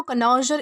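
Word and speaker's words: connoisseur: इसे जो है वह कनोजर इस तरीके से प्रोनाउंस किया जाता है जिसका मतलब होता है विशेषज्ञ।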